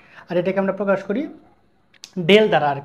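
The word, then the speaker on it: ∂: নাম হচ্ছে আংশিক আর এটাকে আমরা প্রকাশ করি ডেল দ্বারা আর কি এর উচ্চারণ হচ্ছে বাঁকাডি বা কার্ল এর উচ্চারণ হচ্ছে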